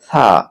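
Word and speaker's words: ثاء: তারপর তারপরের অক্ষরটি হলো থা। এই থা উচ্চারণ হবে যে জিহ্বার আগা সামনের উপরের দাঁতের আগার সঙ্গে লাগাতে হবে, অর্থাৎ জিহ্বার আগাটাকে উপরের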